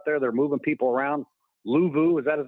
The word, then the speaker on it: Luvu: Luvu, is that his name? How you say it? Luvu?